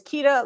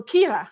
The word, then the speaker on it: Kira: The first time I met her, I thought she said her name was Kita, like Chiquita banana. And then she's like, "No, Kira, like Kira if you're white, like my